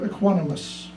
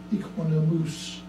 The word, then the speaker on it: equanimous: My wandering mind picked up some of the idiosyncrasies of his pronunciation, especially the word equanimous, which he pronounced equanimus.